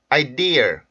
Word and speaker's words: ideal: 발음을 해 주고 자 두번째 이제 제가 발음을 해 볼 테니까 어떤 조금 전 했던 건 어떤 차이가 있는지 한번 보세요 idl idl 아이디에 ideal and l l d l 자 지금 여기 보면 r 발음이 껴 있죠 이렇게 자 이게 은근히